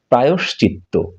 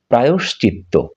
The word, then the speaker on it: প্রায়শ্চিত্ত: আমরা বলে থাকি প্রাশ্চিত্য বা ইত্যাদি ইত্যাদি শুদ্ধ উচ্চারণ হচ্ছে প্রায়শ্চিত্ত প্রায়শ্চিত্ত এরপরে যে শব্দটি আমরা দেখতে পাচ্ছি এটিকে আমরা